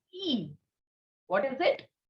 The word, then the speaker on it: i: next letter is i so how do we pronounce i in french it is e what is it e you can clearly see